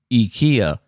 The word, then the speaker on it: IKEA: i instead rather pronouncing the word with the e instead of an eye is the correct way to say ikea in swedish mind blown but that's